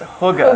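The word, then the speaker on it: hygge: And this is the essence of uh, Huga. Yeah. Pronounced Huga.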